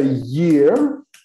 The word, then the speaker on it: year: Ano é year, year. Há pessoas que têm dificuldade na pronúncia desta palavra. Year, year. Tem que ser pronunciada com I no início, ye. Na verdade, pronunciada como ye, ye.